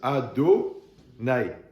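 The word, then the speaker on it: Adonai: d'ashem selon que par qu'on le prononce pas comme il s'écrit comme comme le prononce les témoins d'ajamaa ouais on doit nous on le prononce ad naï mais quand on le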